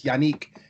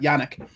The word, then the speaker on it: Yannick: getting yanique in gaque that's the correct way of pronouncing that that first name by the way it's yannick not yannick um from the jacksonville